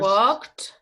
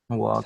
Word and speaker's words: walked: The ed verb ending sounds like a t, walked, even though it ends in the letter D.